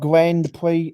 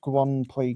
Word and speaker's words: Grand Prix: And it's not And it's not And it's not Grand Prix. And it's not Grand Prix. It's Grand Prix because it's a French uh pronunciation.